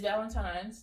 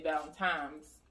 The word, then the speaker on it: Valentine's: It's Valentine's, like apostrophe S. Okay. The what people be messing up is they say Valentine's, like with an M.